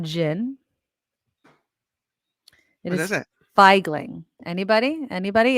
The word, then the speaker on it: Feigling: know what figing is does anybody know what feigling is anybody anybody anybody it's right here in my glass it's clear all right it's not vodka it is not water it's not Jin it is it feigling anybody anybody it's spelled feig g l i